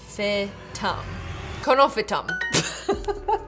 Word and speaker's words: Conophytum: How to pronounce? Conophytum.